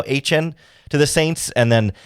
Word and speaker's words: Etienne: They lost running back as well, to Trevor Etienne, is how he's pronouncing Etienne now, Etienne, to the Saints.